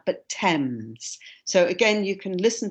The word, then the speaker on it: Thames: and the pronunciation is thames it's strange pronunciation compared to the spelling it's not pronounced fames or anything like that but thames so again you can